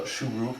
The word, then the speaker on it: shuruk: And then we have U, milafum, that's commonly called a Shuruk, that's the U sound.